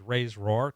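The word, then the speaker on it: RAISERROR: So it's Ray's roar technically, but I'm always going to call it Ray.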